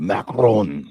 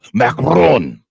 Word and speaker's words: Macron: So with a Macron. Sorry, I didn't pronounce that correct. Macron.